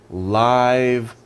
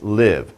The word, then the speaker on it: live: live that's a verb so this is adjective and this is verb it's different pronunciations it's a live band